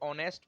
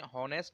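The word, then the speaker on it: honest: Okay students, इसलिए, और हाँ, इसको ऑनेस्ट पढ़ते हैं, हॉनेस्ट नहीं पढ़ते। ओके, प्रोनाउंसिएशन ऑनेस्ट होती है, इसलिए एन का यूज किया गया।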